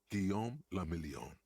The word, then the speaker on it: Guillaume Lamillion: Guillaume Lamillion. Okay. If it doesn't rhyme, you're not pronouncing it right.